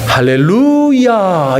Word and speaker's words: 할렐루야: 그리고 히브리어는요, 액센트가 대부분 꽁지에 있어요. 뒷부분에가 액센트가 있단 말입니다. 그러면 이 네자의 액센트가 어디에 있느냐면 루에 있습니다. 그러면 이 발음을 할 때 우리가 뭐라고 해야 되냐면 할렐루야 이렇게 해야 되는 거예요.